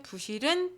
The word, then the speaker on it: 부실: 부실하다, 부실공사 할 때 쓰는 부실은 특이하게도 시읒을 만났는데도 불이 아니라 부라고 읽습니다. 네, 특이한 점이죠.